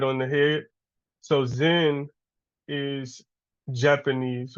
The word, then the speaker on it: Zen: And then lastly, we have Zen, which is the Japan, which made its way to Japanese to Japan, and Chan is pronounced Zen in Japanese.